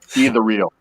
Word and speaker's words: ethereal: It's pronounced either real. Either real. That's how you pronounce it. Ethereal.